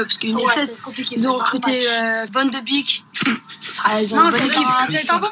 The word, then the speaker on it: Van de Beek: J'ai entendu certains rigoler sur Van de Beek. Mais c'est comme ça qu'on dit. C'est donc une très bonne prononciation.